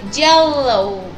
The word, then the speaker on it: yellow: Hay que levantar muy bien la lengua al paladar al pronunciar la letra L. Yellow.